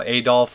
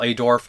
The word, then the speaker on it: Adorf: I love Mario Adolf as well, Adorf. Sorry, I always mispronounced his name from Fela Day, but